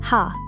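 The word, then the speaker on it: ห้า: Because in Thai, the number five is pronounced ha.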